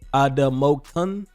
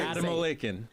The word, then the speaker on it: Adamolekun: Damola Adamolekun.